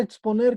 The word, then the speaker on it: exponer: Vamos con su compañera Pérez Salazar, la palabra exponer, ¿cómo queda? Exponer. Exponer. ¿Y la sílaba tónica?